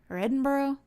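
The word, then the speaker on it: Edinburgh: we started but it's I'm supposed to say edinburg Edinboro but I'm probably gonna say it wrong so just a broken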